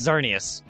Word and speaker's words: Xerneas: No, it's Xerneas. For being a fat bitch, stump to the head. It's Yveltal or Yveltal and Xerneas, as I always have called it. The X is silent then.